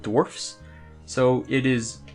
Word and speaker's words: Dwarfs: an indie game called Dwarfs so it is I pronounce a dwarf with an FS sound not dwarves with a VES I've gets the name of the game top right dwarfs !